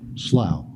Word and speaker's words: Slough: did now help me your last name is pronounced L Slough Slough yes sir think just like plough but okay I answered anything close to that oh thank you very kindly mr.